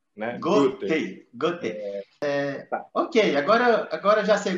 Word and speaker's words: Goethe: muitas vezes diz quando na verdade a pronúncia em alemão ela lembra a a pronúncia da palavra gota da água então não é difícil também não é muito desafiador para o brasileiro pronunciar o nome cerca Goten Goten OK agora